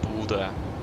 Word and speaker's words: Bodø: Yeah, how to pronounce Bodø? Yeah, just Bodø.